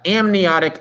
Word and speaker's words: amniotic: to say that uh amniotic egg is how you say that word so yeah salamanders are